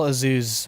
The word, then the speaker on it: Azuz: Yeah, it's Carl Azuz, but he pronounces it Azuz.